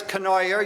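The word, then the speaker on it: Cournoyer: the Republican uh Chris Canoyer, you you that's the way you pronounce it rhymes with annoyer.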